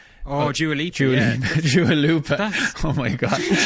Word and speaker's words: Dua Lipa: Oh, Dua Lipa.